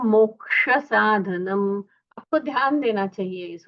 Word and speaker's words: साधूनां: साधुनाम वंदनेन च, धू का उच्चारण दीर्घ होना चाहिए।